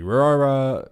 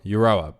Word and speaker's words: Euroa: was involved in the eurora branch um Na I definitely said that wrong was that word how do you say that EUR euroa um yeah the robbery euroa where they stole over